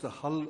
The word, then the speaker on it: HAL: It's pronounced Hull Robotics.